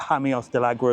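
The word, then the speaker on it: Jameos del Agua: And then you got hamios dagra as well. So never pronounce the J as a J. Pronounce it as a H.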